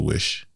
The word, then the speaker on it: Vish: It's spelled via SH, right? Yeah. But it's pronounced as a wish. Yeah. Yeah. If I had Also- one wish. Also, it's not Vish. It's It's Wish.